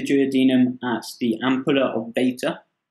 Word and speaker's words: Vater: asks the ampulla of Vater water but if you want yeah I like to pronounce it water okay goofily white where